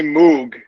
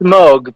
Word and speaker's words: Moog: Because I remember Bob Moog coming on and saying, this is how you pronounce it. Yeah, it's moog, but the British guys, for some reason, just can't say that. They always say moog.